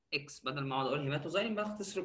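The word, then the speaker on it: hematoxylin: الهيماتوزايلين، هنا الاكس بتتنطق زي الزد، هيماتوزايلين، والايوسين او الايوسين.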